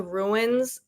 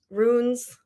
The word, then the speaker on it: runes: really understand is the ruins and how they create the ruins. Runes, not ruins. Runes.